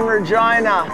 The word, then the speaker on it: Regina: triple F we're in the city that rhymes with fun were in Regina we're here out of